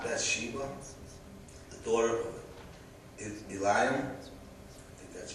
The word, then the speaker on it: Eliam: And someone said, "Is this not Bathsheba, the daughter of Eliam?" That's how you pronounce it.